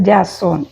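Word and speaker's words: Jason: ഐ സി എച്ച് ഓ യാസോൺ ജെ എസ് ഓ എൻ ജെയ്‌സൺ വായിക്കും യു can read it ആസ് ജാസോൺ ഓൾസോ എലിയാവ് ഇ എൽ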